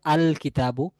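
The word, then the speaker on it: الكتاب: যদি এটাকে আমরা নির্দিষ্ট করতে চাই বলতে হবে আল কিতাবু, তাহলে লামটি উচ্চারণে আসছে।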